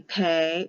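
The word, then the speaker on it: pe: with the letter p when there's a dot in it it has the hard sound of a p and it will be pay or pay with an H or without an H when they take the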